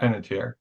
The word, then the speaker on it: Panettiere: Panettiere. Yeah. Panettiere.